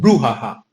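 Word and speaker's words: brouhaha: ब्रोहुआहा, ब्रोहुआहा का मतलब होता है हंगामा। इसकी प्रोनाउंसिएशन हम कह सकते हैं ब्रूहाहा, ब्रूहाहा।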